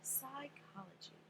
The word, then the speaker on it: psychology: to do the opposite reverse psychology remember it's pronounced sigh so that's how people's